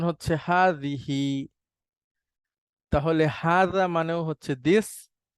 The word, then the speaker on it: هٰذِهٖ: এটার উচ্চারণ হচ্ছে হাদিহি।